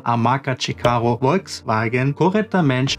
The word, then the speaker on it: Volkswagen: O V, né, o V se pronuncia como um F em português.